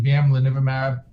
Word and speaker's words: bamlanivimab: You gotta say it like you're singing it. Bamlanivimab. Bum, bum, bum.